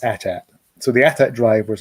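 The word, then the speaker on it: AT-AT: i do stress uh i do pronounce that as at i had some clone on one of my videos telling me i was wrong and it is 8080 but no it's attack so the attack driver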